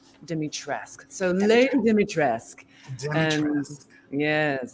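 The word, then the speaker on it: Dimitrescu: let's start with you and how do you pronounce dimitrisku am i doing it right there's a lot of conversation about that this is a hot topic uh according to capcom our official pronunciation is dimitressk demitresque so lady dimitrisk and yes yes yes so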